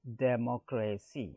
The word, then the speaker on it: democracy: Next comes here democracy, that is the noun form, and here mock, on mock it falls. If you come from the right, racy, here mock on the third it falls, and that word adjective